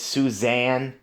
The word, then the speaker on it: Susan: Oh, and by the way, guys, it's not Susan, it's Suzanne, like Suzanne, like the sun, like Sun.